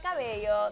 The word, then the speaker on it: Cabello: All right, you guys, our new favorite couple in Hollywood has got to be Austin Mahone and Camila Cabello. That's how you say it in Spanish.